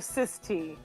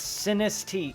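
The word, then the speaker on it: Sinistea: Is it Sinisty or Cis-T? I think I'm saying it wrong. No, it's Sinisty. Look, Wolf, it's a combination of Sinister and T. Sinisty.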